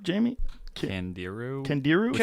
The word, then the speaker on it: Candiru: Candiru.